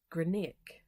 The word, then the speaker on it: Grianaig: but it is pronounced Grianaig. So it sounds like a K on the end, even though there isn't a K in the name.